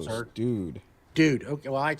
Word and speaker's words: Doode: Dude, how do you pronounce your name, sir? Dude.